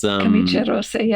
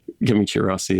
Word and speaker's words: Camicie Rossi: It's Camicie Rossi, I'm pronouncing it like it's Portuguese. Camicie Rossi.